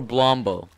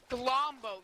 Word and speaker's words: Glombo: Don't mispronounce his name. What is it, Bombo or Blombo? Glombo.